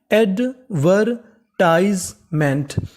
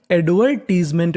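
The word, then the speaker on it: advertisement: एमईएनटी, एमईएनटी को क्या पढ़ते हैं मेंट, तो पूरी meaning एडवर्टाइजमेंट, एडवर्टाइजमेंट, एडवर्टाइजमेंट। एडवर्टाइजमेंट का मतलब होता है विज्ञापन, अगर आप चाहें तो इसका उच्चारण एडवर्टीजमेंट भी कर सकते हैं, तो मीनिंग क्या बनी एडवर्टाइजमेंट।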